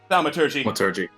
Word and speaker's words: thaumaturgy: How do you pronounce that? Thaumaturgy.